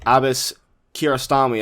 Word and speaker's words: Abbas Kiarostami: This is an Iranian filmmaker, Abbas Kiarostami. I want to make sure I'm pronouncing that right.